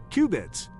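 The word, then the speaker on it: qubit: Say it like cubits.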